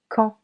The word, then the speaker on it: quand: Quand. Quand. Here, we do not pronounce both letter D and letter U. Quand.